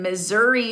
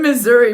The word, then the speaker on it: Missouri: I'm in Missouri. BORING. I KNOW MISSOURI is not that boring. I mean, it rhymes with misery a little bit.